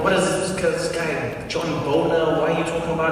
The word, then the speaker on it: Boehner: I was like, I don't know, what is this guy, John Boner, why are you talking about it? He's like, Boehner. I was like, that's not how it's spelled, that's Boner.